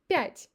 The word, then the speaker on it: пять: When it's stressed, we pronounce it like Я, like in yacht in English. Пять.